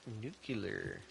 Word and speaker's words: nuclear: commercial buildings the nuclear pan plant uh it's pronounced nuclear nuclear uh we don't yeah we don't have